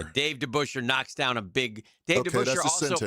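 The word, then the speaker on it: DeBoucher: Dave Debusher knocks down a big Der pitched in the major leagues, just so you know. And the pronunciation is the Busher.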